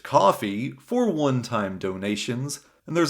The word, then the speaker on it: Ko-fi: Though if you'd like to support without the long-term commitment, I've also put together a coffee, which it turns out isn't pronounced Ko-Fi, just coffee, for one-time donations.